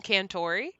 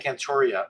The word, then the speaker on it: Cantore: you from Twitter yeah c-a-n-t-o-r-e but it's so there's no a I keep saying cantoria and Crawford apparently exist